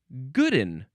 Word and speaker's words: good and: So the synonyms, and actually, it has its own pronunciation, which is goodin.